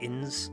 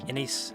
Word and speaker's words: Inés: Around 1 minute, 11 seconds, I mispronounced Inés as Ins. It was meant to be Inés.